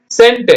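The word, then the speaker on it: scent: அப்ப படிச்சீங்கன்னா சை இன் இஸ் சயின்ஸ் வருதுங்களா ஓகே சென்ட் நம்ம சென்ட் அடிச்சீங்களா வாசனம் அது பாருங்க இதுல வந்து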